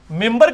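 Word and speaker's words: منبر: ممبر کے سپیلنگ کیا ہے؟ من بر، لیکن پڑھا کیا جاتا ہے؟ کیوں؟ کیونکہ نون کے بعد، نون ساکن کے بعد بار ہے.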